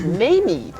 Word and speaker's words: Mameve: She is and I've mispronounced her name, it's Mameve, and if I don't do that, you audience members can come and correct me.